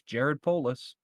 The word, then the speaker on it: Jared Polis: Yeah, if am I mispronouncing his name? Jared Polis. Yeah, it's Jared Polis. Polis.